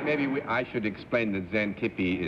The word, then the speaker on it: Xantippe: I think maybe I should explain that Xantippe is spelled with an X at the beginning. That's what I mean, expect. Yeah, but you pronounce it Z, you see.